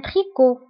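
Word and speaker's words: tricot: رداء صوفي ان تريكو. وبالنسبة لتريكو كنكتبوها بالت في اخر الكلمة ولكن لا تنطق ان تريكو.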